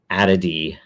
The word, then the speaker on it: 0xad: the standardized approach from Silicon Valley to the pronunciation of the episode number. So it is ADD.